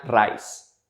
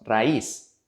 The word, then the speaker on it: raíz: Pero si no forzamos un hiato, la pronunciación sería raíz. Y no decimos raíz, decimos raíz. Para que esta palabra se dé, debemos forzar un hiato agregando un acento ortográfico sobre la vocal débil, la letra I.